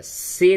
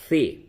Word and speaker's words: فے: یہ فے ہو گیا، سے نہیں، سے کا تلفظ غلط ہے، فے۔ یہ 2 نقطہ تے،